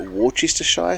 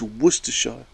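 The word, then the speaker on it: Worcestershire: or I would say I still can't even say it like Wester shy sauce I don't actually he would get wor he's like it's Worcester shy maybe I was like dude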